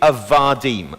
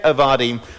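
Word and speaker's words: עבדים: Really, it's called a rough breathing, or an ayin before that, and its plural is avadim. Okay, so that's eved, avadim.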